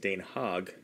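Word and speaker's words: Den Haag: the Netherlands and they speak Dutch and it's pronounced Dan hog and isn't that that interesting that this is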